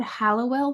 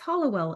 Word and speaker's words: Hallowell: pronouncing that right M I said Hallowell the whole time I was writing it and then when I was talking to the a b producer turns out it's Hollowell and I had no